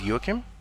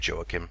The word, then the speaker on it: Joachim: My first name is Joachim, which I assume most of you English-speaking people have a problem pronouncing properly. So go ahead and just say Joachim if you want, or is fine.